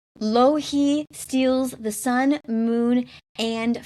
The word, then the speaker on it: Louhi: Yeah, like Low, low, he. That's how I've been pronouncing it. Right. The only thing I know about Finnish is that the stress is always on the first vowel, so it has to be Louhi.